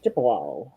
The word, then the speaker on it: Chippewa: Did I pronounce that right? Yes, Chippewa.